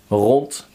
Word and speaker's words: rond: So they say hart, paard, gerend, rond, moord. So you have to pronounce it as if there was a T.